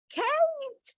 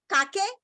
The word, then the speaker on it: cake: Cake. The E is silent. Okay. Cake. Will somebody say kake? Will you say kake? Did you hear somebody saying kake? Or kake? Or kaki? No, you won't do that. I trust you. You won't do that. All right. It is cake.